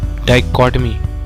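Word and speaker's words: dichotomy: इसका प्रोनाउंसिएशन ध्यान से सुनिएगा, इसे प्रोनाउंस करते हैं डाइकोटमी।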